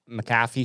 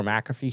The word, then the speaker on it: McAfee: and this was on the pat maffy show or McAfee show whichever you wanna whichever way you want to pronounce it I love Mike I